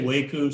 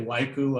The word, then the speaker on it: WAICU: darren mentioned wake you i say waku some people say waiku i'm not sure if there's one right way to hear it pronounce it but you may hear both of these during this talk so